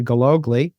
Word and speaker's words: Gillogly: Google all right I'm here with uh Google and I pronounced that correctly did I not yes you